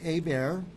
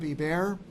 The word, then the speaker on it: Hebert: Dunamis Wealth, and Hebert, Hebert. That's right. I'm saying it right. Hebert? That's right, Hebert.